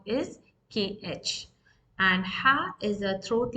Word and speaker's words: ح: it is different because it is pronounced forcibly from the throat as ha, ha. It's not ha.